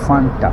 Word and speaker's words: Fanta: together with my furniture a lot of people say it's fun now UK people do you pronounce it like that that's fun I mean you see they are Fanta it's written f-a-n-t-a so where do you get the courage to say fun so let me enjoy